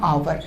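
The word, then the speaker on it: hour: जैसे मैंने कहा ए कार, अब मैं यहाँ से एक एग्जाम्पल लिख दूँ, मैंने कहा आहार, ठीक है ना, आवर। अब आप देखो इसका अगर आप प्रोनाउंसिएशन करोगे, इसका आप अगर उच्चारण करोगे, तो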